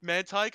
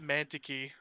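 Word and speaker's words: Mantyke: sense then oh okay man tyke i used to pronounce it mantiki man ticky when i was a kid romanticy mantiki i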